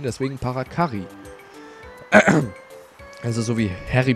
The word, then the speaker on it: Parakarry: den Namen nicht aussprechen früher habe ich immer parakari gesagt Kari das a lang ausgesprochen aber eigentlich sind jetzt zwei R deswegen müsste man es kurz aussprechen deswegen parakari al ist so wie